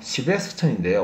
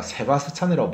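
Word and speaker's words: Sebastian: 그 다음 유명한 이름은요, 시베스천인데요. 우리가 세바스찬이라고 부르죠. 세바스천, 세바스찬이라고 부르기도 하는데요. 원래 이제 발음은요, 시베스천이에요.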